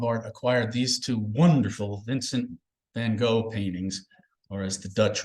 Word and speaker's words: Vincent van Gogh: He said, if you pronounce the letter G in Dutch in front of a mirror and the mirror remains dry, you're mispronouncing the language.